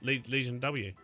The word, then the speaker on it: Legion V: The Latin pronunciation of V is more like a W. Learned that from eggs. Oh, Legion. Legion W obliv uh an investigation